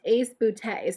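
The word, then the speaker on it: ACE Beauté: on their instagram and it says that it's pronounced ace bootay so that's what we're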